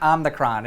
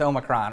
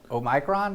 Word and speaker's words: omicron: it i got it it's not omnicron it is omicron or omicron because omega oh micron we missed new and